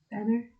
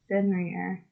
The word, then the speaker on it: Fenrir: Fenrir?